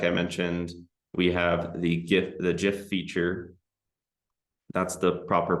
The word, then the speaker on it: GIF: Like I mentioned, we have the GIF feature. That's the proper pronunciation, by the way. It's GIF, not GIF.